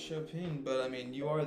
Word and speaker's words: Chopin: Well, I thought it was pronounced Chopin, but I mean, you are the English chopping.